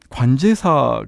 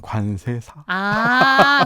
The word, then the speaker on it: 관제사: 발음을 잘 해야 되거든요. 관제사. 네, 관제사라고 하면 관세사. 관세청. 네네. 공항과 관련이 되어 있긴 해요. 네, 또. 맞습니다. 그렇죠. 그래서 제가 관제사입니다라고 하면 관세사요라고 이렇게 이해를 많이 하시고 관제사입니다라고 하면은 뭐 하는 거예요?